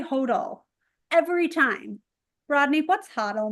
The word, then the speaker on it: HODL: I think if you pronounced it phonetically, it would be HODL, but I find different jurisdictions pronounce it differently.